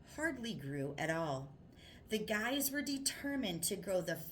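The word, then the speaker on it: Gey: So he called George Guy, pronounced Guy, head of tissue culture research at Hopkins.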